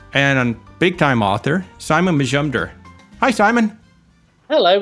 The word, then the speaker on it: Majumdar: a little Majumdar Majumdar think of it in three syllables module is how I usually try it Majumdar but you could you